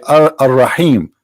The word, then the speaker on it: Ar-Rahim: They say Ar-Rahim because this is how it's pronounced, but the fact it is Al-Rahim, Al-Rahman, Al-Aziz, Al-Muhaymin, etc.